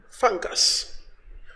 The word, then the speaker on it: fungus: Let's go to the word fungus. Fungus has two syllables. One, two. Fungus. The stress is on the first syllable, which is hair.